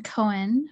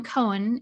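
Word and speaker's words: koan: to back up a zen cohen if you're not familiar with it it's spelled k o a n it's sort of like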